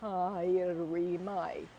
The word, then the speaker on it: haere mai: haere mai. So it means welcome to the flagship. No mai harimai. Like it. Haere, yeah, yeah, yeah. So the AU is pronounced O. No mai haere mai.